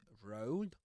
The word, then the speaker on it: rolled: The next word, so we've just covered rolled, that rhymes with goats and go.